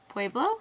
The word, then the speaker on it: Pueblo: right next moving on we have pubrio I I I butcher the how do you pronounce that Pueblo Pueblo yeah okay I said publish